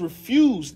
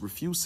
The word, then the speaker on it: refuse: let it be as refused in respect of our child let it be as refuse refuse is trash it's spelled the same as refused but in the context it's refuse let it let that